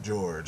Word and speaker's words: Jorge: have Jorge or George they spell it Jorge and then pronounce it George I don't get it